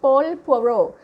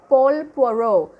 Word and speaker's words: Paul Poiret: His name is, his pronunciation of the name is, I don't know, I'm just imitating the French pronunciation, Paul Poiret. Paul Poiret.